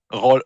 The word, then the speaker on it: Raleigh: Je pense qu'il est là pour remplir Tu prononces comment? Rolly. Rolly. Raleigh.